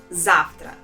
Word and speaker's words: завтра: There are 2 syllables in this word and the stress is on the first letter A. Завтра. And here in this word, the letter V or the sound V in the middle of this word is also pronounced as F.